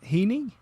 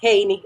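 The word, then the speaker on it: Hini: of your first name is it Heeney yes Haney it's h i n i hany okay that's people visit to sometimes but but it's actually Heeney yeah Haney yes Haney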